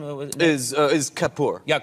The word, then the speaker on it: Kapoor: Last name was Is Kapoor. Yeah, Kapoor. Yeah. And so It's 2 syllables.